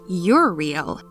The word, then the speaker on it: Uriel: of the apocryphal texts his name uriel is a male name of hebrew origin pronounced you're real which means god is